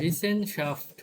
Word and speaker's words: Wissenschaft: ভি ভাই সেন উচ্চারণটা একটু কঠিন হয়েছে। ভিসেন শাফট হ্যাঁ, ভিসেন শাফট।